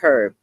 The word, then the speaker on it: herb: of men remember that herbs are very important or some people like to call it herb herb e the H is silent that he may bring